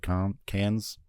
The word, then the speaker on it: Cannes: the French don't pronounce like the last letters in a lot of things, so I think it's like Con or Can.